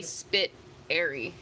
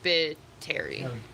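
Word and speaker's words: Spitteri: don't get it but i guess it's pronounced spittari yeah the emphasis on the terry you pronounce my name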